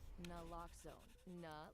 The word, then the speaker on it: naloxone: For the record, it's naloxone. Like, is naloxone addictive? Nuh-uh. Lox like naloxone keeps humans safe like locks keep bikes safe, and own like naloxone